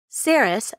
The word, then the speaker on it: Saris: green Donna C parent saris rhymes with Paris is eight and has